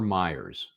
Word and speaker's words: Mayers: Is it Mayers or Myers? Mayers. Mayers.